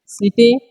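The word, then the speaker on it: city: देखिए सी के बाद IYE रहता है तो उसका उच्चारण स हो जाता है।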